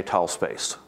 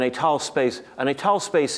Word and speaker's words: étale: I'm going to write with two accents, and I'm going to say étale space, because he always pronounces it étale space.